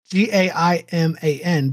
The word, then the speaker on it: Gaiman: G-A-I-M-A-N, but it's pronounced G-E-I.